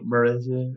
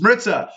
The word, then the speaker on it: Maritza: No one's saying Maritza. It's Maritza.